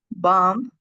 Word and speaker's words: bomb: Bomb. Clam. Come. Crumb. Depth. I'm sorry. dot dumb lamb lamb num. Okay, this is very easy because we don't pronounce the last letter.